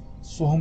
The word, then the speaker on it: सोहम: याद रखें, सो को जरा देर तक बोला जाता है, फिर हम को जल्दी समाप्त किया जाता है, यानी ऐसे सोहम सोहम सोहम।